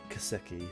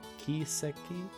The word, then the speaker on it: Kiseki: whole trail series or kaseki series ki kiseki right that's how it's pronounced here uh if you're a follower